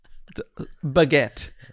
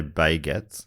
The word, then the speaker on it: baguette: his Wares as usual is that how it's pronounced baguette but is that is to the French because I know you've been to France a lot do the French say baygets I do absolutely not okay I just